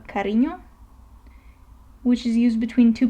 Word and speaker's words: cariño: And if we move on, we have ñ, which is pronounced like the combination of N and Y in the word canyon, for example. So let me show you a Spanish word for that. Let's say cariño, which is used between